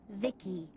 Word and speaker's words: Vici: transistors by the way i'm vici pronounced vicky my creator was phoebe